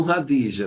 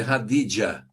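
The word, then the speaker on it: Khadija: É, os cristãos chamam radija, mas é radidia.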